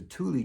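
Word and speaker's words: Thule: you have the the the Tuli tribe and yes that's spelled the same way as your ski rack T H U L E the Tuli uh tribe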